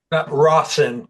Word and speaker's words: Rawson: Is it Rosen? Is that how you pronounce the last name? Rawson. Rawson. Okay.